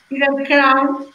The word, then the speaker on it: Feather Crow: Para que Feather Crown.